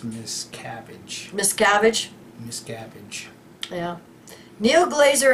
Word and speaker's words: Miscavige: able to locate Mr Miss Savage the Bay Times reports I think that's pronounced Miss cabbage Miss cabbage yeah Neil